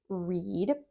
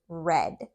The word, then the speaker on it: read: And then the other pronunciation of this word is read with that short e sound.